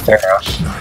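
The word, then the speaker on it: Pharah: Phara. It's pronounced Phara.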